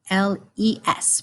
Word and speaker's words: les: And then if we have more than one of something that's either masculine or feminine, it is les, L-E-S, pronounced les.